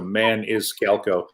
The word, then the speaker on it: Maniscalco: I know it sounds weird to spell, but it's exactly how you say it. So Maniscalco.